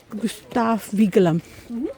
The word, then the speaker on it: Gustav Vigeland: Gustav Vigeland. Gustav Vigeland. Yes, well done. Well pronounced.